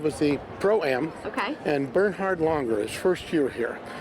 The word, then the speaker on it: Bernhard: He said, "You people here in the United States, they don't pronounce Bernard, it's Bernhard.